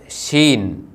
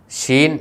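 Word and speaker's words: ܫܝܢ: റീഷിന്റെ കുത്ത് മുകളിലാണെന്നും മാത്രം അടുത്ത അക്ഷരത്തിന്റെ പേരാണ് ഷീൻ ഇതിൻറെ ഉച്ചാരണം ഷ എന്നാണ് ഇതിൻറെ ന്യൂമറിക്കൽ വാല്യൂ 300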